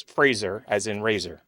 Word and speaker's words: Fraser: Razor. Like Fraser. razor. Right, Frasier. right. Yeah. Brendan Not Fraser. not the TV show Frasier.